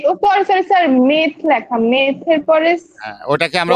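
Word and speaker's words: meth: যে sorry sorry sir, মেথ লেখা, মেথের পরে ওটাকে আমরা ওয়ার্ড রুট মেথ। ওটাকে আমরা মেথ উচ্চারণ করব না, উচ্চারণ করব মিথ। ময়ের অস্বীকারে মি আর মিথ।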